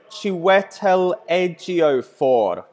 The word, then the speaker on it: Chiwetel Ejiofor: Dude, I just watched the video and the lady pronounced it Chiwetel Ejiofor. Like, it's literally pronounced exactly like it's spelled.